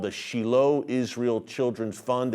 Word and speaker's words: Shiloh: We pronounce it Shiloh here in the West, but Israelis call it Shiloh, in the biblical heartland of Samaria.